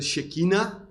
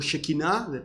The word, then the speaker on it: Shekinah: de Dios, en hebreo la gloria de Shekinah o Shekinah, he oído ambas pronunciaciones, es la presencia y la manifestación de Dios.